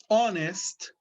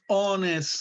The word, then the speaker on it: honest: example we have our honest the h is silent the h is a consonant but it doesn't have any sound so we use an